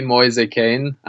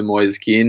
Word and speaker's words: Moise Kean: Sky Sports so facing fierce how do you pronounce his name it's a Liam it's gonna be moist a cane but in the Premier League I would be the oldest go with probably Moyes keen it's probably a bit simpler it's not an